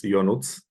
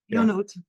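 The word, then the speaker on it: Ionuț: with pronunciation, is it Ionut? Is that correct? Yeah, it's almost correct. It's just like John in English, but it's in Romanian. It's Ionut. Ionut. Yeah. Thank you. Ionut.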